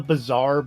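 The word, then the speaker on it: Bizarre: Oh, it's called the bizaar, but it's spelled B I Z A R A A R R E. Like the bizaar instead of the bazaar for shopping.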